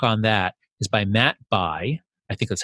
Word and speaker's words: Bai: the great book on that is by Matt Bai, I think that's how you pronounce it, B-A-I, reporter for the New York Times.